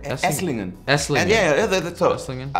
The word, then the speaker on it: Esslingen: ago, I went to Essingen. Is that how you say it? Essingen? You know, near Stuttgart? Near Stuttgart. Esslingen.